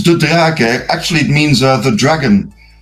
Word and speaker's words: De Draeck: Is it or? Which is normal to be like pronounced? It's De Draeck.